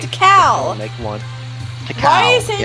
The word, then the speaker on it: Tikal: Like, Tikal! Make one. Why are you saying Tiktaka? Why are you saying that? That's the name! Tikal! Why are you adding an extra syllable to it?